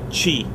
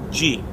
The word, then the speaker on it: qi: The Chinese call it qi, qi. That is how they say it, Adam.